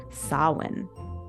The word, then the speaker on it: Samhain: It was called Samhain. Also, something that always tricks me is although it's called Samhain, it's spelled this, Samhain.